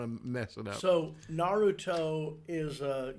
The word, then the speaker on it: Naruto: Yeah, please pronounce this correctly so my anime-loving son doesn't hate me. Naruto? Naruto.